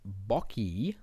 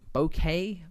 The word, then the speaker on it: bokeh: like a blown out bokey bo bouquet. That's how you say it.